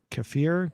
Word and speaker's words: kefir: i do drink um uh what's it called kefir cuff i want to pronounce it for a k-e-f-i-r it's like a